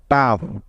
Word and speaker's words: tough: একই রকম শব্দ TOUGH টাফ।